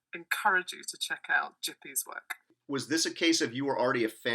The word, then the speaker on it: Gipi: this is a Creator called jippy I think that's how you pronounce it so it's g-i-p-i it's an Italian cartoonist